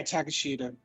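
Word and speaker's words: Takeshita: and i can't i have a hard time pronouncing his actual thing old take sheeta i believe it's takashida yeah takashita but it was just funny because he came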